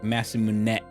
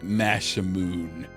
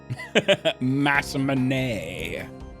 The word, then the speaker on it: Masamune: And it's not Masamune usually, or Masamune. Like we have our S sounds kind of drawn out, and they seemed to cut off. So it's more like Masamune.